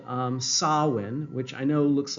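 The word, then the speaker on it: Samhain: of the Agricultural season um it's called um sawin which I know looks like Sam ha here s m h a i n but it's pronounced Sinn um that means the end of summer and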